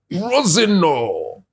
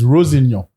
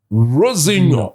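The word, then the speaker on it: Rosenior: were playing no format no what is this Roseno he says the pronunciation is Rosenho Rosenho yesian descent okay Roseno I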